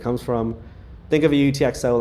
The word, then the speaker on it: UTXO: call your balance uh the phrase utxo pronounces letters stands for unspent transaction